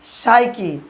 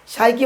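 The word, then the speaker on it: psyche: পি এখানে silent letter থাকবে।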